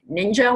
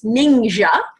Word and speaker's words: Ningxia: how do you pronounce a lot of people say ninja like I ya know it's not ninja its ninja because it comes from the ninja Province of China and um they call